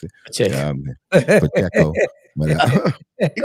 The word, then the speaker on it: Pacheco: Y'all running back, how you say his name, Pikachu. I can't even pronounce it. Check. Pacheco.